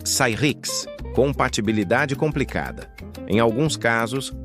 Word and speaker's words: Cyrix: Muita gente pronunciava Sirix de forma errada. O nome correto era algo como Cyrix, compatibilidade complicada.